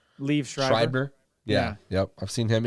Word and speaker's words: Schreiber: Schreiber? Liev Schreiber. Schreiber.